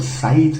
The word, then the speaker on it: scythe: का साइत okay now मैं इसको स्काइड स्का बोलता था बट I remember someone corrected मी उन्होंने कहा कि इसको जो है स् काइट नहीं बोलते इसको साइट बोलते हैं दिस प्रोनाउंस और